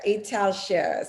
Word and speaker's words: Italcer: Italcer. See that? Because it's Ital Ceramica, but here they say Italcer.